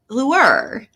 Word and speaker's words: lure: In British English, this is normally pronounced as lure. Lure.